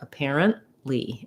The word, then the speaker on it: apparently: apparently we use a stopped t there which means your n is going to be very short and you aren't really going to hear that t you just stop the air stop short apparently and then release right into your l of the lead uh you can get